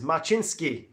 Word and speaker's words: Machinsky: Lindsay, Karen is saying pronunciation of my last name phonetically is Machinsky.